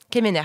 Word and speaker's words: Quemener: Anaïs Kemener, est-ce que je prononce bien ton nom de famille ? Kemener, pardon.